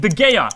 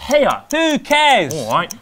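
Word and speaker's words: De Gea: Giroud lo hace bien Por favor paren de decir De gaya Se pronuncia Hea- A quien le importa!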